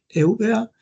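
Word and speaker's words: Eubea: Entonces él era oriuno de la de la isla de Evia o en español se pronuncia Euba y va a un monasterio de esa cerca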